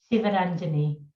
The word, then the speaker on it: Sivaranjini: Sivaranjini.